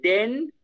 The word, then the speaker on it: den: Trata de relajar, mira, de decir la diferencia entre den y dem. El uno es con N y el otro es con M. Trata de pronunciar ambos diferentes. Den, dem.